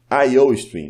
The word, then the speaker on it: iostream: IOStream, né? Fazendo a pronúncia correta do inglês. IO, de input, output.